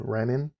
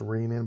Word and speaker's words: renin: produced in the kidney called renin that's actually supposed to be pronounced rain in but although most people don't and we'll see how